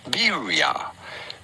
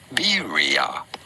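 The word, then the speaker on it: birria: It would be said in Mexico, but it'd be fine in English to call it birya. Bira or in Mexican birya.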